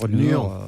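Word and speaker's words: Nür: C'était Nour, comment on prononce Nur? Nur. Parce qu'il y a un tréma sur le U.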